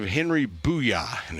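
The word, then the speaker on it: Buja: the name of Henry Booyah. And if you're an old ESPN fan and love Stuart Scott, then that's exactly how you say it. It's spelled B-U-J-A, but the starting pitcher, Booyah, tonight.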